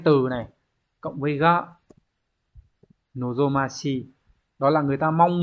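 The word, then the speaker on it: 望ましい: Chữ Hán là chữ vọng, từ này đọc là nozomashi.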